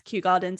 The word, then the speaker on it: Kew Gardens: I was next to Kew Gardens. Is that how you say it? Yes, Kew Gardens is lovely there.